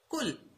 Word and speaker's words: कूल: में हम इसे बोलेंगे कुल। ठीक है, और इसमें बड़ियों की मात्रा है तो इसका जब उच्चारण करेंगे तो हमें थोड़ा सा ज्यादा समय लेना पड़ेगा, इसको लंबा खींचना पड़ेगा, कूल।